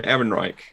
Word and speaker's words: Ehrenreich: han solo i'm not going to try and pronounce his name if you want to older neck and reich that's it holden ehrenreich um and they brought him out and i